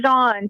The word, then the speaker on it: Pan: like cage and Pon is it pan how you pronounced your last name pan so it's actually French I'm actually I'm Cuban